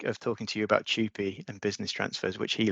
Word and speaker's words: TUPE: It's the way most people pronounce the acronym TUPE. Some people call it TUPE, or I've heard a few TUPEs, but I stick with TUPE.